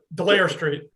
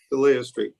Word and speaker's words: Delia Street: Is that pronounced correctly, Will? Delia Street. Delia Street, thank you.